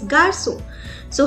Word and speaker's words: garçons: Again, I'm going to write the S at the end, but the pronunciation will be same. That is garçon. So how you're going to ask who are these?